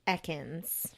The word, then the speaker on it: Ekans: just like you trust me on mine it's Ekans okay so I said it wrong sorry to